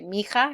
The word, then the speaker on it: mija: Mi hija is how we'd want to say it, but oftentimes in Spanish they'll say mija because the H is silent, and so it kind of all goes together.